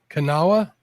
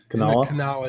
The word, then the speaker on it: Kanawha: Kanawha. Kanawha.